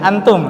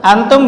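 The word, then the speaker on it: أنتم: Antum. Nah. Ayo. Antum bersama-sama ya. Coba baca 1 2 3. Bukan antum, tapi antum ya. Perhatikan posisi lidah dia masih mengambang, jangan ditempelkan.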